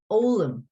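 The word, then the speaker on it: fhoghlaim: how does that sound all of them all them this is almost as if it begins with a vowel isn't it because the fh is silent okay all of them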